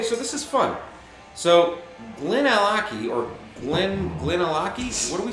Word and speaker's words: Glenallachie: So Glenallachie or Glenallachie, what are we saying it is?